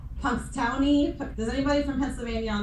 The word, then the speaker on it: Punxsutawney: say it, I can't say it, it's like Punxsutawney. Does anybody from Pennsylvania on the call can say it? Phil, the groundhog. It's Punxsutawney. Thank you. Punxsutawney.